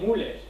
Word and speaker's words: Müller: por ejemplo, tenemos a Müller, como se pronuncia en distinta de alemán. Bien, Müller, que abrió un orfanato en Bristol.